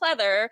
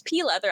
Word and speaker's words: pleather: really complicated fabric called pleather. I didn't even know how to pronounce the name at the time. I'm pretty sure I pronounced it as pea leather.